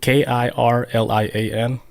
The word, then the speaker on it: Kirlian: It's Krillin. Kirlian. Sound like Krillin. Yeah, but it's curl, like Curlian. Brilliant.